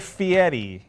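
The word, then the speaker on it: Fieri: Food Network with guy guy Fetti it rhymes with spaghetti guy Fetti Fetti this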